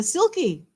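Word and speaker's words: sylkie: and there's a uh silky silky as in I spell it s y l k i e like this which is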